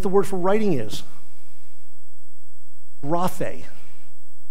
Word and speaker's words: graphe: Graphe. Basically, G-R-A-P-H with an A, a long A on the end. Graphe.